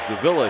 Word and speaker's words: Davila: He took the charge from Victor Davila. They pronounce it Davila here.